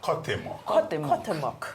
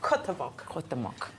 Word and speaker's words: Cuauhtémoc: I can't pronounce the name, but you did a good job of pronouncing the name, Shaitan. But I mean, when Cuauhtémoc. Yes. That's the name of the ship. Cuauhtémoc.